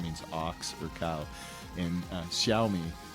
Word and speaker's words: Xiaomi: ox or cow and xiaomi that x is like an sy people call it all